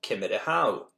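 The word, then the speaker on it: Ciamar a tha thu: The Gaelic for how are you is Cymara how. The polite or plural form is Cymara hashiv. When you are the second person in the conversation, you add the word hain after u or shiv. For example, Cymara how hain.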